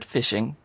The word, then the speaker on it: phishing: Did you hear the word phishing? It's spelled differently to how you might expect it to be. P-H-I-S-H-I-N-G. Phishing is where you get an